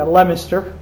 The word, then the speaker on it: Leominster: and mass 2 meet leo minster or however it's pronounced yeah lemmester yeah leominster and that city to